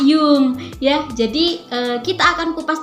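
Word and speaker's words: Jung: Swiss kemarin, Carl Gustav Jang. Itu mau nih, Carl Gustav Jang atau bisa dikenal Cigi Jang. Nah, biasanya dipanggil Pak Jang ya. Itu bacanya bukan Pak Jang, tapi Pak Yung ya.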